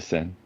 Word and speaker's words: Seine: The Seine.